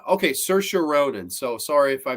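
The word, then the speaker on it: Saoirse: have to watch it her say name is pronounced cersa okay cersa Ronin so sorry if I mispronounce anoun that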